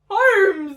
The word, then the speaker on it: Holmes: Lizzie Holmes. Holmes! The L is silent.